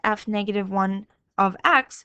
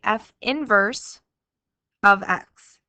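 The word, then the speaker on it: f⁻¹(x): Now, it's not pronounced f negative 1 of x. You're going to say f inverse of x.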